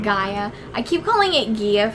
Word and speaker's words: Gaia: Gia. Gaia.